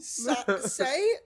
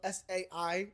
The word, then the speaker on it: Sai: Well, Say literally, and just, I'm going to apologize now. The way that her name is spelled, S-A-I, it makes me want to say Sai.